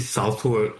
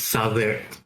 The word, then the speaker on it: Southwark: And then like you don't pronounce it Southwark, it's Southwark. And you're naming these weird